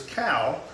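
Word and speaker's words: Kau: And then out back is Cow. It's spelled K-A-U.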